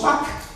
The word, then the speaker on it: Pâques: que ce soit Pâques, même si on enlève le ES, ça se prononce Pâques, avec QU là.